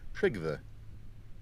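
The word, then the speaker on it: Trygve: by the way DK try saying my name in two parts trigva there we go got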